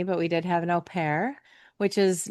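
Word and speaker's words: au pair: And I'll contrast your story a little bit because we didn't have a nanny, but we did have an OPAIR, which is not not everybody's in America is familiar with OPAIRS, but AU P A I R is how it's spelled.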